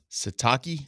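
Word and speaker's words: Sitake: Satakei.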